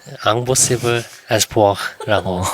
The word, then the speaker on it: Impossible Espoir: Impossible Espoir라고 읽으면 됩니다.